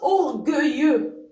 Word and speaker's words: orgueilleux: Donc ça se prononce orgueilleux.